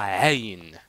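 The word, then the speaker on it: عين: Aïn, mais c'est pas Aïn, c'est pas Aïn, mais ça se prononce comme ça. Aïn.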